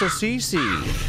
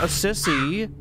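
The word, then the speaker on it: Assisi: something I don't know it's pronounced aissce not aissy the hair is growing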